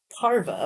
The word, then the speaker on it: Parva: Parva. Okay. Like larva, but spelled like carve.